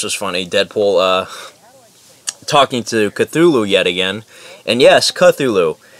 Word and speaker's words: Cthulhu: I swear to God I thought the names thing was called Cthulhu and I later on found out it's pronounced Cthulhu I had no idea so